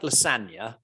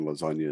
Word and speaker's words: lasagna: Move in silence, like lasagna, the G in lasagna is silent.